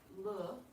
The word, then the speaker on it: le: You have le, which rhymes with je, like in je m'appelle.